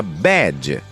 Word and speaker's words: bad: bed que significa cama é diferente tanto em pronúncia quanto em significado com a palavra Bad que significa mal enquanto a letra e de